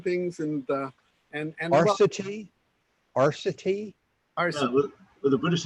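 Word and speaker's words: Arcite: In the Forvo, it's Arcity.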